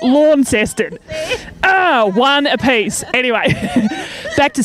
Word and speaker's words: Launceston: How do you say that? Launceston? No, it's Launceston, not Launceston.